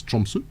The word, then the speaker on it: Tromsø: But I'm going to guess it's Tromsø, given the Norwegian Scandinavian tendency towards as a vowel.